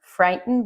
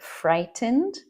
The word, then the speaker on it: frightened: One thing is this word frightened. You will hear it said like that, frightened, but native speakers will commonly say frightened, frightened, because very commonly when we have an en after a t, we say it as it's called a glottal t.